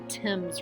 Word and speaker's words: Thames: bad side or the sketchy side of the Thames river so Tim's is spelled th a and E s so it